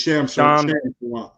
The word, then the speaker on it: Shams: Like I said, outside of Shams, am I saying his name correctly? It is Shams, right? Shamsharania. It's Shams. Shams.